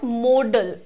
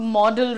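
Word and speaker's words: modal: को कहते हैं मॉडल मॉडल की स्पेलिंग पर ध्यान दीजिएगा अक्सर स्टूडेंट्स इसको मॉडल लिख देते हैं बट इट इज नॉट मॉडल related to modelling ठीक है दिस इज मोडल यह कहां से आता है मोडालिटी से आता है मूड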